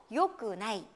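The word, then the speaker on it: よくない: 부정형으로 말할 때도 요꾸나이. 요꾸나이가 된다는 거, 요 두 가지는 꼭 기억을 해두시고요.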